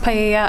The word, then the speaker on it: paella: going to be used to cook paella, I'm not sure if that's how you pronounce it, at the party. It's pronounced paella.